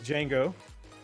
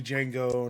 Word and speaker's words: Django: And I'm like, okay, if you think it's spelled with the silent D, then I know what you think of me already. So Yeah, I was thinking movie Django, not framework Django, but Yeah.